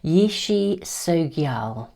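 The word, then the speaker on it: Yeshe Tsogyal: I looked it up I opened it up to look to see whether there was a pronunciation which there is Yishi Sogyal is how I should pronounce it This is a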